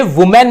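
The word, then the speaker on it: women: ये वुमेन नहीं होता, ये होता है वुमन। और जब ये प्लूरल हो जाता है तो ये पढ़ा जाता है विमेन।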